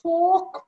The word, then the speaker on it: fork: he comes to a fork point again r is slightly silent which is leading to